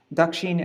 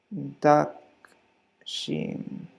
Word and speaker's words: dakshin: the dakshin v pug dakshin is how you say southern let me make this yellow duck sheen duck sheen v-puff v-pop and the